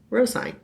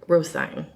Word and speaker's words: Rosine: Okay, you have to commit to a pronunciation of the name. I'm going to say Brandy. Okay. Yeah. Well, I mean... It's Rosine. Rosine.